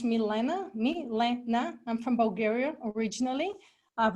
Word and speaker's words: Milena: My name is pronounced Milena.